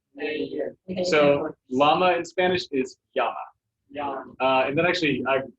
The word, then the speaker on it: llama: a llama and but in spanish it's yama and it says that